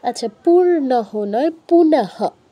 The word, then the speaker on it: পুনঃ: হ এর উচ্চারণ হয় আসবে পূর্ণ হ এর উচ্চারণ পূর্ণহ আচ্ছা পূর্ণহ নয় পুনহ র টা আসবে না তুমি একটা র আনছো